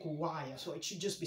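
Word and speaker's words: Kuwaya: be spelled like that it's not kuwair we don't say kuwair we say kuwaiya so it should just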